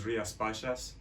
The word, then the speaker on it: Rías Baixas: The name of the area we're looking at first is Rías Baixas. That's the nearest pronunciation in the way it's pronounced.